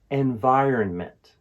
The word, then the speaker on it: environment: guide will help environment the last syllable is meant let's say the last two syllables together earn meant once more earn M now let's say the for word repeat after me environment environment now let's use